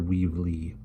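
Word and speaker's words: Weevle: And we'll pronounce this the way it's written. It's Mr. Weevely, returns Mr.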